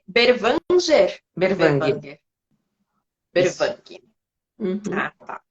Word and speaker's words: Berwanger: Berwanger.